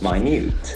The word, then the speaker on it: minute: very interesting sound observation it can act as an adjective in that case Theon is different minut minute extremely small minute the same spelling with different pronunciation there are similar words